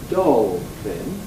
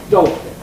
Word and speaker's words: dolphin: is do we say doll thingin like shellfish or do we say dolin like selfish and the answer is clearly we say dolphin dolphin we don't say DOL this is somewhat surprising